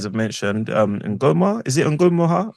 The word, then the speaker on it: Ngumoha: Because obviously, what Rio, as you guys have mentioned, Ngoma, is it Ngumoha? Ngumoha. I'll let you pronounce it.